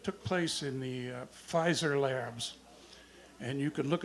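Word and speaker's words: Pfizer: story about that took place in the uh fizer labs and you can look it up online you have to spell it fizer with a p the pee is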